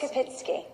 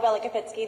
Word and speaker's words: Belokopitsky: pronounce it, but none of us thought it was Belokopitsky.